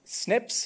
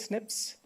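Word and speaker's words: SNP: do is I use single nucleotide polymorphism or Snips is how we just pronounce it Snips and this is a way where we can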